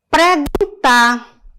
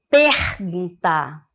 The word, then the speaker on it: perguntar: lagarto né é largar preguntar ao invés de perguntar estrupo ao invés de